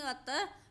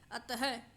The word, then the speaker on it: अतः: इस विसर्ग को हम हा के रूप में उच्चारित करते हैं, जैसे विसर्ग लगाए, लेकिन हम इसको विसर्ग के रूप में प्रोनाउंस नहीं कर सकते, इसलिए हम इसको हा के रूप में प्रोनाउंस करेंगे तो क्या बोलेंगे? अतः है, अतः, अतः, तो विसर्ग को हा के रूप में बोला जा रहा है।